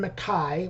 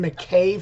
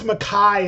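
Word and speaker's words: MacKaye: a new band with Ian Makai which that is the proper way to say his name I've been saying Ian McKay for years um but I guess yeah I guess I guess Makai is the right way to say it just like I've been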